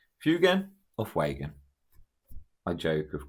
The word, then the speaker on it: Fuegan: I pronounce his name um, Fugan. Sometimes I do switch into Fagan, but I'm pretty sure it's um fugan and it's easier to say.